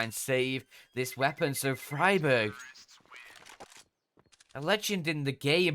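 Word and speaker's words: Friberg: i'm talking about otherwise that's freeberg apparently just free berg but the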